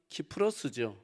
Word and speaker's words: 키프로스: 거기서 배타고 구로에 가서이 구불로 우리 성경에는 구불로 이렇게 해놨는데 에 원래 발음은 키프로스 지금도 키프로스 쓰고 있는데이